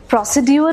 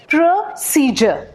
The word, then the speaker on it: procedure: बट ये प्रोसीड्यूर नहीं होता। You know, one of my teachers, she actually used to say procedure because that's how it's spelled, na? PROCEDURE. But surprise, surprise, it's not procedure. Thank God I checked. Procedure. और यहाँ पे PRO है ना, हम प्रो नहीं पढ़ेंगे, इसे प्र पढ़ेंगे, प्र। जैसे प्रोनाउंसिएशन में भी प्रोनाउंसिएशन नहीं है, इट्स प्रोनाउंसिएशन। इसी तरह से दिस इज प्रोसीजर।